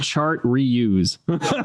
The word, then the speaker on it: Chartreuse: literally, chart reuse. Chartreuse. Literally, how it's spelled. Okay, that's the American version.